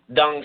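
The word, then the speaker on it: Tung: Dung style. It's in Roman letters. It's spelled T as in Tom, U-N-G, but that T in Chinese is pronounced like a soft D.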